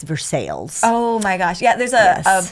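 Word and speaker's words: Versailles: Balo we got a verses Kentucky it's not pronounced Versa it's vers sales oh my gosh yeah there's a not a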